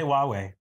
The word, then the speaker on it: Huawei: it oh in this review but I'll say Huawei be correct there we go and uh we'll